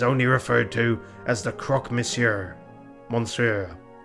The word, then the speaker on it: croque monsieur: referred to as the Croque Monsieur. Monsieur. Like the sandwich? What? How do you say that? Croque Monsieur? Yeah, croque monsieur.